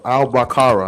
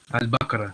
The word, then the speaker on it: Al-Baqarah: The Al-Baqarah. I think that's how you say it. Al-Baqarah, yeah.